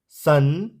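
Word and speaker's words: sun: जैसे आर यू एन रन एस यू एन सन एफ यू एन फन तो इन words में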